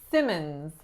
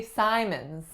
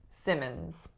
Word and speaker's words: Simmons: this last name say Simon's and that would be the pronunciation if there was only one M in this last name but typically when there are two M's we say Simmons Simmons next up we have